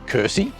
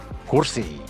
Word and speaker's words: Kursi: Sometimes English speakers find the word kursi quite difficult to pronounce, and they might say kursi, but here we go. Kursi, kursi, kursi.